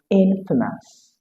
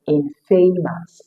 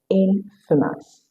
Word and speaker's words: infamous: Next, we have another pair of words that looks like opposite but famous and infamous. Famous has a shoe sound as the five syllable.